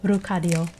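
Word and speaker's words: 루카리오: names in different languages lucario is still rukario pretty much the same just with Korean pronunciation no um no crazy variation oh yeah another example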